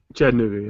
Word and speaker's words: Chattanooga: Chattanooga, yeah.